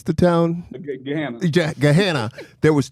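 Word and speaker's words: Gahanna: What's your name how you pronounce the town? Gehanna.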